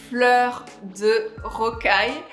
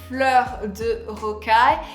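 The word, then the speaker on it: Fleurs de Rocaille: so the last one is a little bit difficult to pronounce but is Flur the roai so pronounced Flur the roai so Flur the roai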